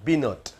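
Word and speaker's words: בנות: அவர் பயன்படுத்தல அடுத்து பாருங்க பைன ஜெருசலேம் இந்த பைன ஜெருசலேம் அப்படின்னாரு பைன கிடையாது பினோட் பினோட் என்ற ஒரு வார்த்தை தான் நாங்க பயன்படுத்தனும் பைன சொன்னா என் வார்த்தையே அர்த்தமே தப்பாயிடும் அடுத்தது ஜெருசலேம் அப்படின்னு சொன்னாரு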